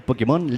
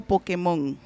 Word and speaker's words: Pokémon: y más conocido en los bajos fondos y en las ferias jugueteras como el Pokémon legendario chileno.